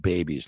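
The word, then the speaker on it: BBBE: Yes, it's pronounced babies, like making babies, having babies, because nothing is more valuable than that.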